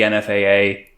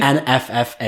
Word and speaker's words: NFFA: They have that whole section in the First Purge where they have the NFAA. NFF. I think there's two Fs. NFFA? NFFA.